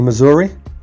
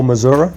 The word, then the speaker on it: Missouri: It's from Reynolds County, Missouri, or Missouri, depending upon how you like to pronounce it.